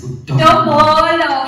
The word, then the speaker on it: Dombolo: Gqeberha clever sekamba, but those who love me call me D to the O, M to the B O, and L to the O. That is pronounced as Dombolo.